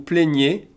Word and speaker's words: plaignez: So we go from vous vous plaignez, in terms of useful pronouns again, vous vous plaignez, I accent aigu.